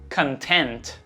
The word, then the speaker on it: content: Seguindo então para o próximo par, content, content. Diferença na sílaba tônica, hein?